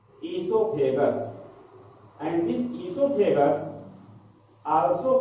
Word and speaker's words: oesophagus: It is pronunciated as esophagus, and this esophagus also called as food pipe.